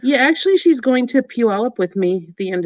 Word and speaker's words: Puyallup: Puyallup. Puyallup. Puyallup. Say it for me, Julie. Puyallup. Puyallup? That's not how it's spelled, though. It's like Pullywap.